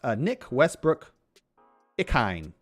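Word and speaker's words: Westbrook-Ikhine: Nick Westbrook Ikhine. Yep, I pronounced that right.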